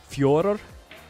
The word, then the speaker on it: Fedor: The best way that I can the best way that I can replicate it is by saying Fjordor. It sounds like Fjordor with like a rolled R on both sides, but it's not exactly like that.